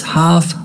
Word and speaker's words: half: say half remember that the letter l the letter l is not pronounced you do not pronounce the letter l the mid remember when